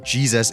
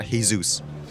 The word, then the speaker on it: Jesus: The name of the character he's referencing is pronounced Jesus in the movie, not Haysoos.